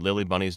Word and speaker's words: Lilli-Bunny: on the threshold stood Lily Bunny's neuroses will you excuse me Monsieur lily bunny it said very politely intelligently putting an emphasis on the last syllable of Lily Bunny's name in the French style however it had difficulty